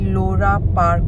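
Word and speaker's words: Loro Parque: आज जा रहे हैं लोरा पार्क को पी ए आर क्यू यू ईई है बट यहां पर ऐसे ही प्रोनाउंस किया जाता है लोरा पार्क को जू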